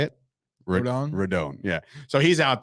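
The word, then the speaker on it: Rodón: Rodon?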